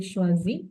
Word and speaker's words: choisit: Then il, elle, on, also same pronunciation. Il choisit, elle choisit, on choisit.